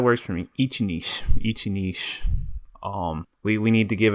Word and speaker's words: Ichi Niche: to pronounce it uh Ichi Niche is fine Ichi Niche okay that's how you're supposed to say it right Ichi Ichi I